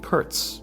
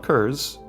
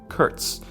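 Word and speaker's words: Kurtz: book and the movie are named Curts not kurs Curts so you just have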